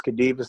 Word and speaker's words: Khadevis: Yeah, so my name is Khadevis. That's spelled K as in kind, H as in